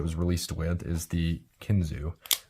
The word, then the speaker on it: Kinzua: released with is the kinzu looks like Kinzua but it's pronounced kinzu according to to case